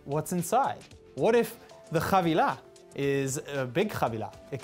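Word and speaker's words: חבילה: So today, our word of the day is chavilah, which is how you say package in Hebrew.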